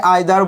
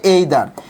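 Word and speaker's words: either: তাহলে আমরা যদি একটু বলি, দেখেন রুলস নাম্বার 4 আপনাকে মনে রাখতে হবে, এইদার, আপনারা সবাই আইদার বলেন কিন্তু উচ্চারণটা হবে এইদার, এইদার dash dash or,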